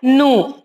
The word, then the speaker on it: gnu: Okay, so no, it is GNU, so we should not pronounce G. Okay, G is silent, and no, we have to pronounce it as nu.